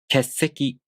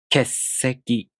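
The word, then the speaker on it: 欠席: So you make the hissing noise of the S sound for one beat like this. 欠席欠席欠席 You hear that? In this case, you don't make a pause for a small tsu. If you do that, it sounds strange.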